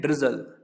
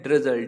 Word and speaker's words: drizzle: और फुहार को हम बोलते हैं ड्रिजल, ठीक। क्या बोलते हैं? ड्रिजल, DRIZZLE, ड्रिजल यानी होता है फुहार, ठीक।